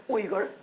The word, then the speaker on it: Uyghur: Or some of them are afraid of pronouncing it because it's difficult to pronounce. It's Uyghur.